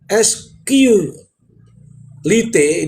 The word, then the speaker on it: SQLite: Carving carving pada SQ Lite ini tulisannya lite ya. SQL bacanya SQLite database internal ponsel yang berada di ruang memori yang belum tertimpa.